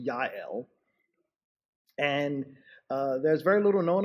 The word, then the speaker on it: Jael: woman whose name is spelled Jael, J-A-E-L, but it is pronounced Yael.